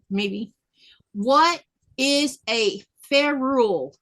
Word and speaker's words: ferrule: Let's see if I can pronounce this one right, maybe. What is a ferrule?